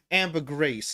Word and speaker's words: ambergris: you say that but Amber Greece is actually one of the names as in the word amber plus the word Greece as in uh right